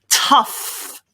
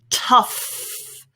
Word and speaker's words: tough: like this isn't it it's simply tough with an f sound there tough tough your turn very